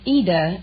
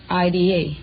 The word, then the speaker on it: Ida: Well, it's Ida in Italian, but... Oh, it's like Aida? Well, no, there is no A. It's just Ida. I-D-A. Oh. But the Americans pronounce it Ida.